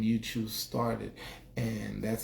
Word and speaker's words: Uchoose: when I was gaming, people would mess it up. Uchu, they didn't know how to say it, like, because it's one word. But yeah, Uchoose.